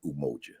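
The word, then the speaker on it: Umoja: Saba the first one Unity which is pronounced in kiswahili umoji the second self-determination which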